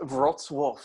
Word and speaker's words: Wrocław: to fuck this up, Wrocław? It's actually pronounced Wrocław.